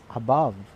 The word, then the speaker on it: above: So we pronounce this word as a above, support, above, support. So as you notice, we're putting stress in the second syllable of the word.